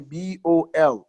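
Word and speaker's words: bowl: about is ball you the W is silent so it's like you're pronouncing only the bol without the w you say Paul told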